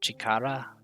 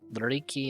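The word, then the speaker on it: 力: So chikara. Chikara. Power, strength, chikara. Also riki and ryoku as the other pronunciations. Power, strength. The shape of power is similar to a muscular arm representing strength. And chikara sounds like chakra from Naruto. Or I guess any sort of meditation chi stuff.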